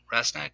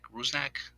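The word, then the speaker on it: Rusnák: right um and they still have ra uh rasak rusak sorry mispronounced there um they still have him and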